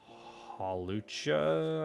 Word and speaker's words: Hawlucha: Hawlucha, I believe it's supposed to be pronounced.